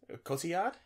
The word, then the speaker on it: Cotillard: Sorry, could you pronounce her name correctly, please? Cotillard.